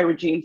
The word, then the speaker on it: Regine: I am Reginé. I also go by Regine. So some people will say, I'm saying your name wrong. You're not. I go by both. Reginé is my birth name.